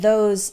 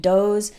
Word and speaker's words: those: When I hear someone pronounce these and those with a D sound, like D's and does, or pronounces think like sink, that's a giveaway.